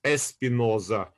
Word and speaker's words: Spinoza: So Spinoza in Portuguese, or in also in Spanish, it's pronounced Espinoza also, and it's comes from the word thorn, thorns in plural, thorn.